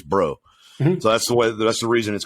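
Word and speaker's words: Breaux: this but the cunas term it's b-r-e-a-u-x it's bro so that's the way that's the reason it's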